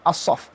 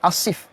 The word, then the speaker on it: Asaf: juga cerita Asaf asap bacanya Asaf Asih Melayu kita pakai Asif tapi bacaannya of us